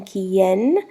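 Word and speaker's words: quién: accent on the O with whom is con quien see o in space qu ie n accent on the e to where AB donde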